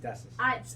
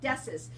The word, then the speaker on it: Dessis: My next guest is Dessis? Dessis. I said it right. It was hard, but I got it. Dessis.